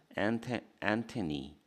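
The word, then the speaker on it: antennae: 엔테 나에다 이를 붙였죠? 그러면 발음은 안테니 니가 돼. 안테니 이게 복수야.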